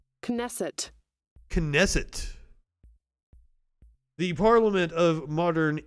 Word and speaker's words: Knesset: Knesset. Knesset. The Parliament of Modern Israel, established in 1949. It's illegitimate. Knesset. Knesset.